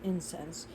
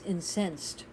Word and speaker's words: incense: different definitions for incense if i were to put the accent on the first syllable incense but i want to say if someone is incensed we want to use this as a verb and if you are incensed you are extremely angry so to inspi and